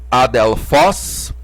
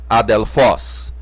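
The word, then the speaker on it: ἀδελφός: a dela Foz irmão percebam que o acento aqui tá em cima do omicron então nessa sílaba Foz que vamos pronunciar mais fortemente a dela Foz adelfós porque o acento tá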